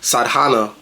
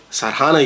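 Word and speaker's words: sadhana: in the past but sadana I don't even know if I say that right but I know it's spelled s a d h a n a sadana yoga this is now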